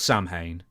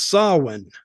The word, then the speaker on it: Samhain: about this NWA swin it's spelled Sam Hayne but it's swi yeah I was I was looking I say how do you say this it's swin yeah apparently so so what's